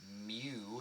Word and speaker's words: mu: you some symbols so this greek letter mu mu is how you pronounce that that is the population mean uh